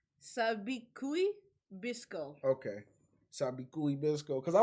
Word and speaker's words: Sabikui Bisco: Okay, so it's like Sabikui Bisco.